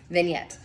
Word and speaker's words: vignette: have pronounced that, and that's not how I pronounce it in my head. So I'm really happy I looked that up. Vignette.